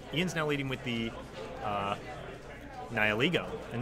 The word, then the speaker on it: Nihilego: So, by the way, it's Nihilego, okay, guys? That's the official pronunciation.